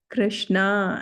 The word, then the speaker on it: Krishna: The short a in Hare, short a in Hare, Krishna and Rama is close like in but.